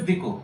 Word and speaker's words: Diku: You must have noticed that this words which I've used here, Diku, it is not Diku, it's Diku. Okay, and Kiristan. These are the exact pronunciations which are used by the local people.